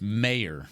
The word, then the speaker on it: Mayer: It's Mayer.